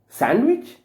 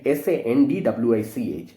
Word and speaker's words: sandwich: The D has to be silent.